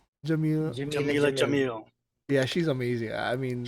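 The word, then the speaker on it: Jameela Jamil: Jamila Jamil.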